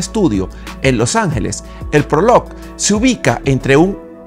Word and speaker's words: Prologue: Este es el nuevo Honda Prologue. Y sí, ya sé que se escribe Prologue, pero se pronuncia Prologue.